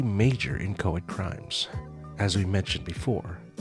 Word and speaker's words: inchoate: even heard the word inchoate before. So let's start with the pronunciation. Inchoate. I've heard other people say inchoate, but I'm going to go with inchoate.